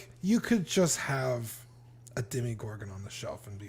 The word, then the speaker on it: Demogorgon: least it's just the demi gorgon is it demi or demo they say demi gorgon on the show that's how i would